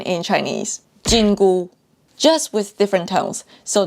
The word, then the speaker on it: 緊箍: prohibition band fun fact they have the same pronunciation in Chinese jingu just with different tones so that would be